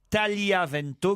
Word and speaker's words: Tagliavento: Première leçon, on doit dire Cardinal Bertone et l'arbitre Paolo Tagliavento, car on ne prononce pas le G.